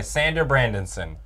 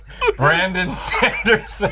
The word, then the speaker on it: Brandon Sanderson: which is based off of the books by Sander Brandonson. Or Brandon... Brandon Sanderson.